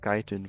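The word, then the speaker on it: chitin: That's I always call it Chetin, I think. Let's see. Uh pronunciation. Let's see what my phone says. Oh, it's skiten. Oh, okay. I've been wrong my entire life, I guess. I don't know how you get kiten from that writing, but this language is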